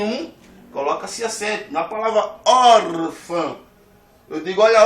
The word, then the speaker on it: órfã: Na palavra órfã, eu digo, olha, órfã.